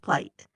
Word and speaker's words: plight: well with the story the word p i g HT is pronounced plight it means a difficult